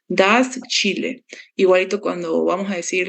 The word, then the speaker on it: Chile: Bolivian, Colombian, Venezuela, Ecuador, Chile sí no se dice como la J, sino Chile tal cual, así como tal. Das Chile.